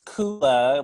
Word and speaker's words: Kulla: But it's Kulla with an umlaut. We don't actually have an umlaut, but it rhymes with hula.